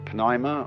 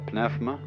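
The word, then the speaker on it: πνεῦμα: the Greek word uh you may pronounce it Pima or pfma uh is the same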